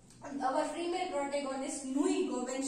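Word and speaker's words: Nnu Ego: सो नीद इज द नू ईगो इज the protest it is also pronounce नू ईगो नो एगो नू एगो ट्स बट it's African pronunciation so इट मे वे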